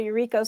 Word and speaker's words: Yuriko: about you okay well my name is eureko and you actually pronounced it fine like i didn't actu i